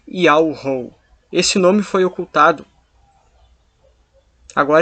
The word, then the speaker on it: Yahweh: E a pronúncia do tetagrama é Yahweh.